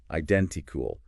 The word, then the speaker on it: identical: Stress on den. Identical.